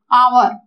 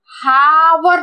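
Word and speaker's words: hour: Okay, अब इधर देखो यहाँ पर लिखा है आवर, इसको हम लोग हैच यहाँ पर साइलेंट है, हावर नहीं बोलते। ओके, इसको एच ओ यू आर को हम लोग बोलते हैं आवर।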